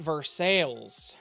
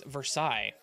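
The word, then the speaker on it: Versailles: for some reason they call it versales cuz apparently people in Missouri don't speak French too good um it's versailes I don't care what you say it's versailes it's French anyway hate should be pronounce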